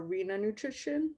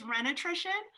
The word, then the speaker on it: Renation: like that um so i know you just started your arena nutrition i mean am i pronouncing that right it's you're close it's renation so it's renaissance and nutrition combined interesting yeah and it's because